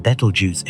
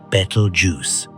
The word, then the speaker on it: Betelgeuse: through translation and copying, turning into the word we know today, battle juice. Try saying it out loud. Feel how your tongue stumbles over the syllables. Betel juice.